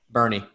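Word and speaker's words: Boerne: my pronunciation hey do you know how you pronounce uh the the one that's in bear county uh b-o-e-r-n-e bernie good boy play enough baseball tournaments over there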